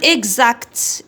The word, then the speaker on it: exact: كي يكون مور الأو إكس هذه فوايل ننطقوه غزو، ولا اش نوي تاني تنطق غزو. دونك مع الأمثلة، مع لي زيكزامبل، عندنا exact.